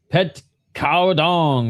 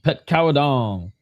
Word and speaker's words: Petkhaokradong: Petkhaokradong. That's how they're pronouncing it. Petkhaokradong.